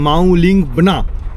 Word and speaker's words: Mawlyngbna: যাব একটু বলে রাখি এই গ্রামের অরিজিনাল প্রোনাউন্সিয়েশন সেটা হচ্ছে মাউলিং বনা এটা হচ্ছে অরিজিনাল তো এখান থেকে আমরা